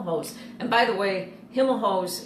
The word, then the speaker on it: Himelhoch's: and by the way Hilma hose is how the store was always pronounced even though our family pronounces our name Himmel Hoch interestingly enough everyone called it Himel hose like and we even